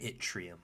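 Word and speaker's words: yttrium: So, it's going to become 39, which is rium pronounced at itrium, I believe.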